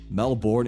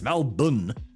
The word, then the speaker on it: Melbourne: and it's not right it's not Melborn it's melb it's like B you can say it as melbin not even that you